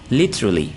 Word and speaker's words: literally: Iran ho taiga aquifer ikana called ni hibiku literally okay so that's the correct pronunciation it's clear who do make America's kuch